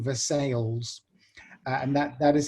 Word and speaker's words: Versailles: this, but there's a town in Missouri called Versailles, and that is how they pronounce it.